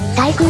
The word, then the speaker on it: 対空: 不届き者ですあ対空と読みます大空ではありません岩を犯すなんて